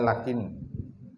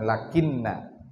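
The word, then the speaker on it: لكن: bitfifi nunil minuni lakin jadi membacanya lakin bukan lakinna kalau lakinna dia termasuk bagian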